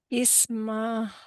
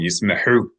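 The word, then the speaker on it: ישמחו: The yud, if a yud has a vowel associated with it, it must be, yes, it must be pronounced as a consonant Y plus the vowel. Isma. No. Ismehu. That's it. Well, yismehu.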